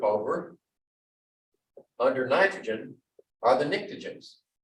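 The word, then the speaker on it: pnictogens: under nitrogen are the nictogens the p is silent nitrogen has a three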